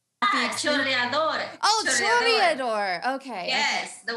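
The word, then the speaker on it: chorreador: And we even bought, did I tell you that we got, please tell me how to pronounce it, a corridor? Choreador.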